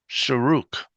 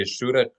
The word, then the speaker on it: shuruk: some say shurek or sherek, shirek, something, but Timanim say shuruk, and that's what I'm used to, so that's what we're doing.